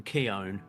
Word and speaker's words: Keown: by Martin Keon so am I saying that name wrong Johnny well yeah you are and I I didn't know I didn't know that how how' you say it it's like gown I guess is how he explained it because you know